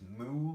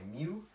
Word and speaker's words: mu: Now the Mobius function, denoted with the Greek letter mu, and a lot of people pronounce it as mu, but like a cow would, but I don't like that. I say mu.